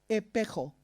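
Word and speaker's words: ἐπέχω: Pero la palabra original en griego es la palabra epecho, pero se pronuncia epejo. Como si fuera usted un niño chiquito que no puede pronunciar la S y no dice espejo, sino epejo. Así suena. Epejo.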